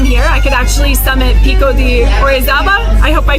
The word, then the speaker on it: Pico de Orizaba: And I'm really, really hoping that during my time here, I could actually summit Pico de Orizaba.